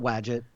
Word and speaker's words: Wadjet: it I'll watch it I call it watch it well I guess there's no real it's all things like Cthulhu there's no real proper definition rhymes with gadget I guess is the